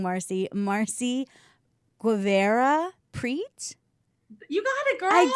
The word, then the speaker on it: Guevara-Prete: know please welcome i'm going to say your name wrong marcy marcy guevara preach you got it girl i did eva has